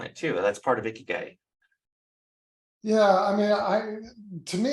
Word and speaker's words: ikigai: that it's out there, and I believe it's pronounced ikigai, which is like the convergence of everything that